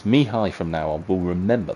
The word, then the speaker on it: Mihai: then I've got here, it's actually Mihai is how you pronounce his surname. So apologies to Laszlo. It's Mihai from now on.